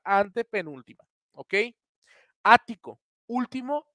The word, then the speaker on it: ático: Las palabras esdrújulas son las palabras que tienen su sílaba tónica en la antepenúltima sílaba, antepenúltima, ¿ok? Ático.